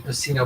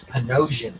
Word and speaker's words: Panosian: a full emboss cover so I used to pronounce his name Pino but it's panosian sorry P okay well ponosan he's got a word balloon there for Magneto